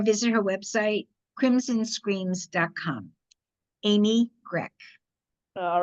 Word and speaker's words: Grech: It's Grech, like CK, even though it's spelled CH.